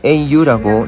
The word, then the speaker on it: au: 여성명사는 아라 그대로 써주지만 남성명사는 축약형이라고 해서 au라고 적고 o라고 읽는 형태로 바뀝니다. On va au café. 아우가 아니라 오에 가깝다는 거 느끼셨나요?